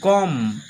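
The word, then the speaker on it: comb: বির কোন উচ্চারণ হলো না। তারপরে সি ও এমবি কম।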